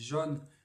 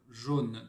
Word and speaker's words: jaune: Et là aussi, effectivement, ça dépend des régions, puisque nous on dit jaune, mais en réalité, cette combinaison de lettres est censée se lire jaune, tout comme rose, pour différentes raisons.